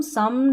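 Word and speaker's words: some: जैसे यहाँ पर देखें ओ के बाद में एक अक्षर छोड़कर लास्ट में ई है इन सभी में, फिर भी हम इसको ओ नहीं पढ़ रहे हैं, क्या पढ़ रहे हैं, अ प्रोनाउंस कर रहे हैं हम ओ को अ। जैसे कम, सम, डन और नन।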